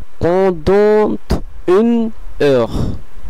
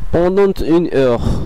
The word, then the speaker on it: pendant une heure: দ্বিতীয় উদাহরণটি আমরা দেখতে পাচ্ছি, সেটির উচ্চারণ করা হবে pendant une heure, pendant une heure, এবং এর বাংলা বিকল্পটি হলো pendant une heure।